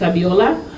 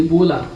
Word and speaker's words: Abiola: on my name is abiola and I often call me because when I first arrived in Australia people find it very difficult to pronounce these five letters abiola they call me ebola even before the Ebola